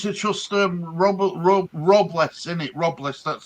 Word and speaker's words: Robles: Robles, that's how you pronounce his name.